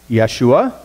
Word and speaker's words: Yeshua: and the name Jesus you to pronounce them appropriately both are pronounced yeshua and both mean the